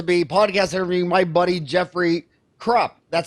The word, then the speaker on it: Jeffrey Krupp: be lecture to be podcast every my buddy Jeffery Krupp that's how you pronounce all right good Jeffery Krupp that's right just a month ago we were